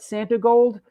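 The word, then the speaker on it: Santigold: I'm a huge fan of Santi Gold. Am I pronouncing that right? Santi Gold. Yes, and love Chuck's drum work on her debut album.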